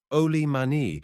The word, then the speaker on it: oli mani: Oli mani is the native pronunciation of old man which by society islanders talking Saxon is applied indiscriminately to all age things and persons whatsoever.